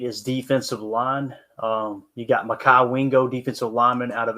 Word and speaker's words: Mekhi: Mekhi Wingo, Leonard Taylor, or Brandon Dorless. So apparently it's pronounced McKee. So we were all wrong.